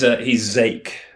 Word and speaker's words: Zach: I always pronounce it as Zach. Is it Zeke? He's or something along those lines. He's Zake. That's Zake.